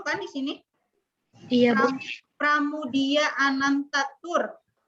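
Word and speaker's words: Pramoedya Ananta Toer: Pramudia Anantatur. Tulisan nama aja di sini bukan pramu, itu pakai ku, tapi moe. Pramudia Anantaturnya juga bukan ku juga. O dan E dulu pelafalannya itu ku.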